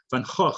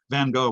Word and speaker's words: Van Gogh: It's pronounced Van Gogh in Dutch. Van Gogh, we say in English, the Dutch painter.